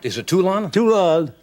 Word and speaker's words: Toulon: Did I pronounce the town right? Is it Toulon? Toulon. Toulon, Yes.